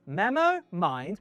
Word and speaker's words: MemoMind: These are the Memo Mind 1, pronounced Memo Mind 1.